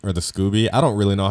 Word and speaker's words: SCOBY: Toggle having this live organism all the time called the SCOBY or the Scooby. I don't really know how to pronounce it, to be honest. It's SCOBY.